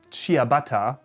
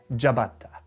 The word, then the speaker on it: ciabatta: would of course be jabata jabata closer to the original pronunciation i'm sure still probably not quite there but closer next up is a